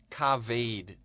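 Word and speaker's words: כָּבֵד: It is pronounced kaved.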